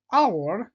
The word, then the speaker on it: hour: A house. Pourquoi? Parce que tout simplement, la lettre H est prononcée. An hour est non pas prononcée. Par exemple, Brutus.